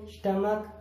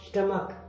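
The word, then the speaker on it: stomach: अब chemistry, technology, school, scheme, स्टमक, mechanic, अब इन सभी में सी के बाद एच आया है, इसलिए वहां पर एच साइलेंट है। School, school means school, scheme means योजना, स्टमक पेट, मैकेनिक मिस्त्री, टेक्नोलॉजी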